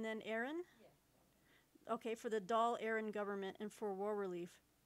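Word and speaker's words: Dáil Éireann: okay doll and then aaron okay for the doll aaron government and for war relief and shaped public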